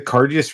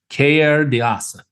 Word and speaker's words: Cairdeas: And like one thing about the Cairdeas releases, like this is probably the most expensive we've seen one. I think you're pronouncing it wrong, Sean. It's Cairdeas. Cairdeas.